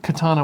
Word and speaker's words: Katana: SE SEO I think that's the only interesting Katana board there it is copyright Sega 1999 uh it's pronounced Katana please do not dishonor neon just